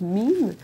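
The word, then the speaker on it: meme: que c'est qu'un même un même en anglais on prononce m c'est simplement un concept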